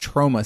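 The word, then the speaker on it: Troma: I had been saying that they were from Trauma Studios. It has been pointed out to me that that is actually pronounced Trauma Studios, which is crazy because I'd only ever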